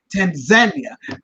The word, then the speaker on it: Tanzania: Tanzania, Jamaicans who live in Kenya, but who are by COVID, because we're still in the middle of a pandemic.